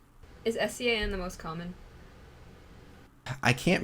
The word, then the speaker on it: Sean: curious, but there's SHAUN, there's SEAN, which somebody like got in an argument with me that SEAN is not pronounced Sean, as if I don't know what Sean is.